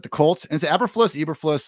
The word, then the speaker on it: Eberflus: say this last night i say everfloss that's the way i've heard it pronounced um which i don't